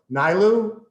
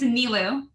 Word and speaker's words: Nilou: but never on camera so nylo it's okay everyone says it it's nilu milo all right i'm gonna